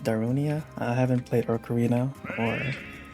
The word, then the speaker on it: Darunia: right another Master spirit this is pronounced darunia I haven't played Ocarina